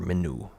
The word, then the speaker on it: Min: It's spelt Min, and I'll put a graphic on screen here for how the pronunciation works, but most believe it would have been pronounced Menu or Minu.